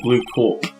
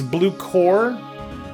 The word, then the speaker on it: Blue Corp: it glued cool Oh blue cool it's blue core is the pronunciation corporate also worked yeah cor P the P is silent cor PS the P